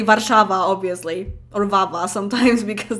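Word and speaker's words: Warszawa: saying that in english in english i definitely say warsaw in polish i say varshava obviously or vava sometimes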